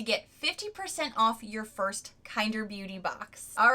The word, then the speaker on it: Kinder: me show you the box and this is pronounced kinder which i love i think that's so sweet